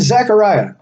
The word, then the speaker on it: Zechariah: And in chapter 3 of Zechariah, it's spelled Z-E-C, even though I say it like it has an A.